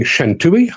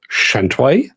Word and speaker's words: Shantui: For years, I was saying Shantui. Apparently, it's pronounced Shantway, which makes me sound very camp.